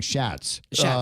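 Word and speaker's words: Schatz: Oh, it's Chats. That's how it's pronounced. At least that's the way I say it. Okay, because I've been saying Shats.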